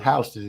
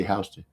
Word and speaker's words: Houston: And then they got a street named Houston, but they call it Houston in Atlanta. I don't know where they get that from. It's spelled the same, Houston, but they say Houston.